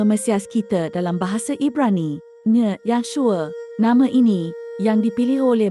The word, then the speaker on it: Yahshua: Pertamanya, nama Hamashiach yang benar ialah Yahshua, tertulis dalam Perjanjian Baru yang asli dalam bahasa Ibrani. Keduanya, nama Yahshua diubah ejaannya dari Yahshua ke Yeshua oleh para imam untuk elak nama yang kudus disebut.